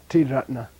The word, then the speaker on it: ratna: But when they don't pronounce a ratag, when they turn it into a retroflex, it's not ta ratag, it's not tiyana, ratna, the 3 gems. It's 3 ratna, right?